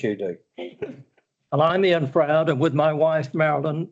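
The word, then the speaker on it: Frowde: I pronounced that name right? Froud.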